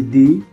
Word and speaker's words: the: কখনো আমরা একই বানান THE, এই দিকে কখনো আমরা বলছি দি, আবার কখনো বলতেছি দা, তাই না?